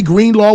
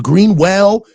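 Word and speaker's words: Greenlaw: Dre Green Law was an afterthought. People were getting his name wrong, calling him Greenwell.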